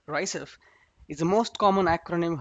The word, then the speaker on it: RICEFW: what is rice's w rice fw are also written and pronounced as rysef is the most common